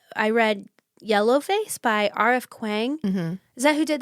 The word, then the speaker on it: Kuang: Kuang. Mm-hmm. Is that who did the Poppy War? And Babel. Right. Yeah. Am I pronouncing that right? I think it's Kwong. Yeah. Kwong.